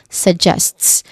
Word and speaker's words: suggests: So this is suggests. The stressed syllable is jests, or the second syllable.